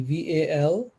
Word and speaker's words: Valmiki: evolved spiritual being and what's his name again valmiki v-a-l-m-i-k-i v-a-l-val miki m-i-k-i thank you we pronounce it as valmiki the author of the